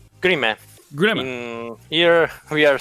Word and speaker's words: Grimme: Let's go to Grimme? How do you say this? Grimme? Grimme? Grimme.